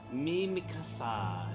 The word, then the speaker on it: Mimikasa: Mimikasa. Yeah, that's your name. Pronounced exactly like that.